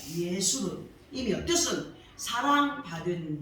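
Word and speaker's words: 여수룬: 여수론의 히브리 발음은 예수론입니다. 예수론. 이며 뜻은 사랑받은 자, 옳은 자, 정직한 자를 뜻합니다. 하나님께서는 이렇게 이스라엘들에게 애칭이 되는 여수론으로 불러주셨다는 것은 그야말로 가장 아름답고 복된 호칭이라고 할 수가 있습니다.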